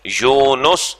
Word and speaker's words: یونس: یا پیش اور واو نون کے اوپر بھی پیش اور اس کے بعد سین. یونس.